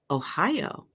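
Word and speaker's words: おはよう: Ohio, pronounced just like Ohio, for good morning.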